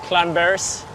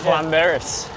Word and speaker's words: Llanberis: Pulling into the town of Llanberis in Wales. The two L's, Yeah. you don't pronounce it as L, it's pronounced Cl, so I've been told.